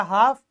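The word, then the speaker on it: half: debris अब देखिए दोस्तों अगर ऐप से पहले एल आएगा तो वो भी साइलेंट होगा काफी एफ से पहले एल ए गया ये बन गया हाफ इसी तरीके से एक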